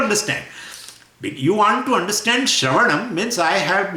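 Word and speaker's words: श्रवणम्: Now Shravanam, now first Shra should be pronounced and then there is a little gap. Then Va will be pronounced, then little gap. Then Ana will be pronounced and then Makara.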